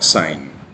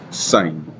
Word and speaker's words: sin: Entonces aquí eh y se pronuncia sign y la abreviamos solo s i n. Seguimos pronunciando sign.